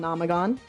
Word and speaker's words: Omnomagon: Um let me just say right now let me just say right now my name's Omnagon. Uh VT the VT is silent.